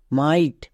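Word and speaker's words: might: আই তাহলে কি দাঁড়াবে এম আই জি এইচ টি মাইট তাহলে এখান থেকে আমরা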